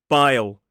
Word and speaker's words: bile: This is bile.